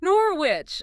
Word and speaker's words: Norwich: You had to pronounce the K. Kickers off ready when I come home. Norwich.